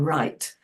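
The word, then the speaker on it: write: And in the grammar, we cover patterns, so that, like the W in right, we don't pronounce it, but it's there.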